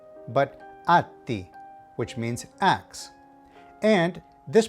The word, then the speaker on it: atti: And finally, when you see 2 consonants together, like a double T or a double B, you have to draw the sound out a little bit.